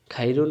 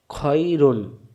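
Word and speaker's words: خَيْرٌ: খ জবর খ, খ মিলবে এর সাথে খই, রব পেশ রু, রু মিলবে নুনের সাথে রুন, খয়রুন, খয়রুন না খাইরুন, খাইরুন বলা যাবে না, উচ্চারণ হবে খয়রুন।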